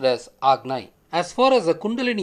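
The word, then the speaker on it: Ajna: chakra is often written as a Jinnah but pronounced as Agni as far as the Kundalini Yoga is considered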